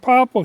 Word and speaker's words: popple: really a quaking aspen the reason we call it POA like the way we spell it is p o p p l e but it's really uh the name came from the Scandinavian loggers like in Swedish Aspen is is called pop but it's called p